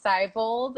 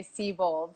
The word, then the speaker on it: Seibold: it wrong actually it's it is cybold and a lot of people say see bold so thanks for asking